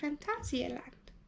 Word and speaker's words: Phantasialand: Next time you see us, we'll be at Phantasialand. And we did get that confirmed, that's how you say it, by the German hotel guy.